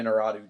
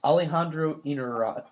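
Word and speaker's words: Iñárritu: Alejandro Inarritu, just a guy knows how to make a movie. Just Holy shit! Is that how his name's pronounced? Alejandro Inarritu.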